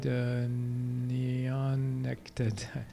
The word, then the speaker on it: neonicotinoids: looks like, to the new type of insecticide, neonicotinoids. How do you pronounce that?